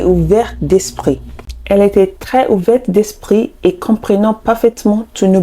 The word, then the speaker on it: ouverte d'esprit: And number 10, ouvert d'esprit and ouverte d'esprit. Ouvert d'esprit and ouverte d'esprit. So don't forget to pronounce the T because it's the feminine version.